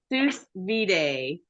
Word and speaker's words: sous vide: Well, we're gonna talk Sous Vide. And I still say, man, I practiced so hard and I still said it wrong. Okay. It looks like Sous Vide, but you pronounce it sous vide.